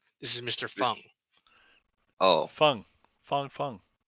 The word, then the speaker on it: Phung: Fung. Fung, Fung. It's spelled slightly different. That's how he knows the name. PHU. Isn't It's PHUNG, and it's Vietnamese.